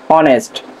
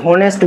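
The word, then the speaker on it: honest: যেমন আমরা উদাহরণে দেখি, সেটা হচ্ছে অনেস্ট। এখানে আমরা উচ্চারণ কি হোনেস্ট বলি, কখনো বলি না, এখানে বলি কি অনেস্ট। সো অনেস্ট, এটা কিন্তু এইচটা কি আছে, সাইলেন্ট মোডে আছে, আমাদের উচ্চারণটা কি হলো, ভাওয়েলের মতো হইলো না।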